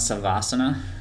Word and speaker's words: Savasana: Kyle, let's talk about Kyle's the founder of Royal Crawl and Silent Savasana.